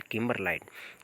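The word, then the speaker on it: kimberlite: अगला है, choose the correct phonetic transcription for the word किम्बरलाइट। किम्बरलाइट का जो फोनेटिक ट्रांसक्रिप्शन है वो हो जाएगा किम्बरलाइट। किम्बरलाइट में जो आर है यानी कि रे की ध्वनि है वो साइलेंट होती है।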